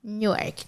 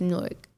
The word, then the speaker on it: Newark: It's Newark. Like a fork. If you come from overseas and you want to go to Newark Airport, you say Newark, like a fork. It's not Newark. Newark is in Delaware, apparently.